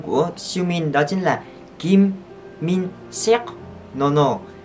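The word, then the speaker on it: 김민석: Nhưng mà tên cúng cơm của Siumin đó chính là Kim Min Seok. No no. Kim Min Seok. Kim Min Seok.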